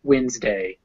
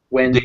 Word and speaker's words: Wednesday: wednesday but it's pronounced wednesday wednesday wednesday these quiet in the middle i know that yeah the d is quiet uh a little background